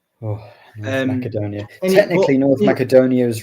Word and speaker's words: Macedonia: Technically, North Macedonia is right. Apparently, if you're doing it the local kind of Greek, ancient Greek pronunciation, Macedonia is correct.